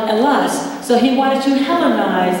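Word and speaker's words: Ελλάς: They call it Hellas, but they don't pronounce the H. There's no H. So they call it Hellas.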